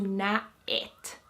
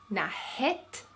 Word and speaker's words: näet: So it turns into näet.